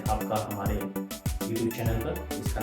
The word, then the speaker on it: a: First है ए, बट in Spanish it's uh. Last class में vowel की क्लास में मैंने आपको बताया था कि the pronunciation of ए इज आ।